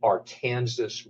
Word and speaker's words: Arkansas: This river we call in Kansas the Arkansas River. And I know many of you on this webinar are probably use the pronunciation promulgated by the state that calls itself Arkansas. I just want to say we got it right here in Kansas, and I can give